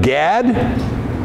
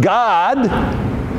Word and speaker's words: Gad: When you're talking about the tribe of Gad, it's pronounced God.